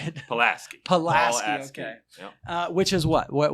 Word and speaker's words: Paulaski: larry close enough how do you say it pulaski uh which is what what what uh is